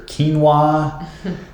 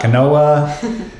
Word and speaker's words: quinoa: your brown wi rice your quinoa finally said it right it's not Canoa whole grain pasta instead